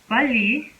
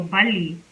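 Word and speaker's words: 빨리: like do it fast so bali as you can see has rear and another layer is following itself back to back so we'll pronounce it as this so bali bali which means fast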